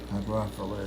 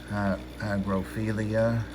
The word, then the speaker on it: hygrophila: Hygrophila is one of the few plants I can pronounce correctly. I hear it called all kinds of things. Hygrophilia. I don't know, but it's amazing how it is mispronounced.